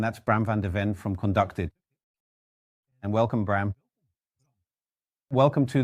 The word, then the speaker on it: KonductIT: We ended up at Gamma and Gamma said yes then you should talk to conduct it or conducted. How do I actually pronounce it best? Well, conducted is fine.